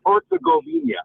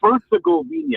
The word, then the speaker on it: Herzegovina: Herzegovina. Yeah. Herzegovina, I think is how it's pronounced.